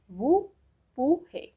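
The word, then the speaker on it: vous pourrez: The next one is you will be able, okay, in the informal way, which will pronounce as wu pu he.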